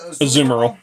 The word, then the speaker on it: Azumarill: And the crazy thing is with that Azumarill, I guess is how you pronounce it. Ain't that how you pronounce it? Azumarill. Yeah, Azumarill.